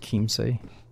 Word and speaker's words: Chiemsee: Oh, it's pronounced Chiemsee.